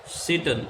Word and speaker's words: Satan: Satan, यहाँ पे T silent रहेगा.